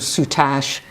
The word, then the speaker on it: soutache: And she's got this wonderful outfit, this lovely sort of soutache. Is that how you pronounce it? Soutache? It is soutache.